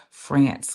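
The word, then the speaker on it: Frantz: can honor our ancestor France Fannon. And I know it sounds like his first name sounds like the country, but his first name is spelled F R A N T Z.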